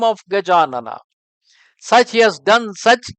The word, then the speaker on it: Gajanana: There is a famous name of Ganesha consisting of four syllables. Gajanana. These are the four syllable word.